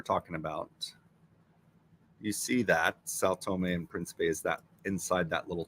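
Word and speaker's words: São Tomé and Príncipe: Sao Tome and Principe. Guys, look at that. Just like it sounds. Sao Tome and Principe.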